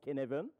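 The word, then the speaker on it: Cynefin: s'appelle le cadre de ça s'écrit cinéphiles mais ça se prononce qu'est né veulent ok mon but spot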